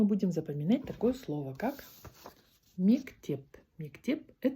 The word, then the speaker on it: мектеп: Сегодня мы будем запоминать такое слово, как мектеп. Мектеп – это школа.